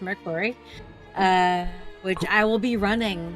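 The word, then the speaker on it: Mörk Borg: which looks like Morkborg, but is actually pronounced Merkborg, which I will be running.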